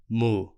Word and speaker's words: moo: Be careful with this sound though. The pronunciation is very similar to the verb that refers to the action of moving, the verb move. So, make sure you make the difference with the V sound at the end of the verb.